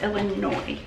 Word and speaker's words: Illinois: that pretty sure it's Illinois okay a girl who loves Jesus said a lot of people told me thank you do not pronounce the S so it is Illinois I wrote it down